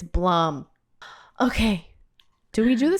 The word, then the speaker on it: Blum: guy how do you how do you say this guy's name Bloom he's like it's Blum okay do we do